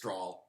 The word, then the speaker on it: Strahle: And also, in case you were wondering how to pronounce it, everybody says Strahle.